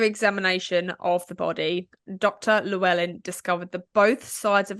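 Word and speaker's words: Llewellyn: Dr lellan I think it's pronounced lellan arrived at the scene after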